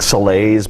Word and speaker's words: Salais: My last name is spelled S-A-L-A-I-S, so it's like Salais, but pronounced Salais.